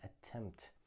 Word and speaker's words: attempt: We don't pronounce p, okay? Make an attempt.